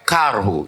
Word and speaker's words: karhu: Yes, Karhu. You say Karhu. Yeah. How you spell it? K-A-R-H. Okay, Karhu. Yeah.